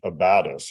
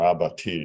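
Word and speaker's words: abatis: and outside the forts you had abatus or abati depending on how you want to pronounce it but it's basically F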